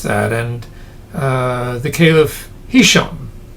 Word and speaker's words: Hisham: And uh the caiff hisham, hisham, I guess it's pronounced, the accent on the last syllable, set the policy which